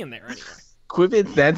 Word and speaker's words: qubits: I can explain in general, starting with, although I prefer your pronunciation, Sean, they're pronounced qubits, not quibits.